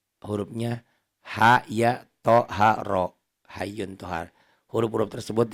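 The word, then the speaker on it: طه: Ini Toha tuh cara bacanya Toha. Tapi H ini salah, panjangnya bukan 1 alif. Tapi H ini panjangnya 3 alif. Toha, kayak ada alis lagi panjang.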